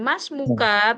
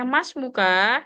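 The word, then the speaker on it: اسمك: Dan mas muka, tadi ahi Termizi bacanya mas muka, sebaiknya masmuk Oke, madrasah.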